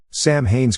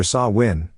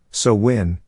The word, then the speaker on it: Samhain: and existing Celtic Nations Sam Haynes correct Gaelic pronunciation depending on your dialect is either saw win so win or Sue win at first Danzig and